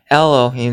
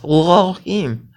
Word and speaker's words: Elohim: You're swallowing the aleph. Okay? You're swallowing it. Lohim is how a lot of Jews even today pronounce it. Instead of Elohim, they go Lohim.